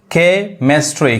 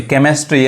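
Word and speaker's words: chemistry: देखिए क्रिस्मस यहां देखिए केमिस्ट्री केमिस्ट्री यानी सी जो है वो क पढ़ा रहा है केमिस्ट्री कैरेक्टर देखिए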